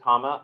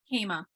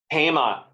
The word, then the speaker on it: Kema: So if you want to go ahead and email me, Kama, oh, hi, I see you now in the middle. Hi, am I pronouncing your name correctly? Kema. Kema. Sorry.